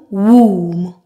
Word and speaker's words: womb: So in the words I will present, we will only pronounce the M, mm.